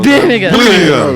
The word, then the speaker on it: Birmingham: Porque você pronunciou errado. Os ingleses falam. Birmingham.